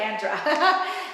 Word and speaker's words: Andra: Andrea is how you say it, or Andra? You got it. Andra.